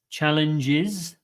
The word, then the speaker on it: challenges: okay although she faces challenges challenges again we've got a zed sound here challenges like Mexico's again another Zed sound so these are s